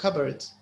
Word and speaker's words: cupboard: كبورد يعني كب جاية من كب يعني. جاية من cup. لكن البي ولا التاين انت بيقولوا cupboard. عش تنطق البي بتخشي في البي تو.